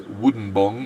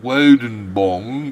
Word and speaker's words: Woden Bong: Of course, we had last night's Wooden Bong, which is really, no, it's not Wooden Bong, it's Woden Bong.